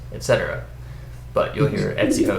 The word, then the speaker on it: etc: this file that you'll often times here called Etsy host even though the EGC almost certainly should be pronounced etc but you'll hear Ed's Evo this is the